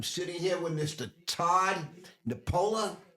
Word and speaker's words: Nepola: Todd Nepola. Is that the way we pronounce it? That's how you pronounce it. Nepola.